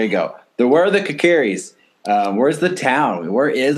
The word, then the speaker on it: Kokiri: I know I'm saying that name wrong. Sorry. I always say it wrong. You all can make fun of me when you listen to this. Ryan, say it the right way for me. Kokiri.